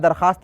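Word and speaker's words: درخواست: मां ने होते हैं उसमें वास साइलेंट होता जैसे दरख्वास्त लिखते हैं दरख्वास्त पड़ते हैं उसके बाद अगला लक्ष्य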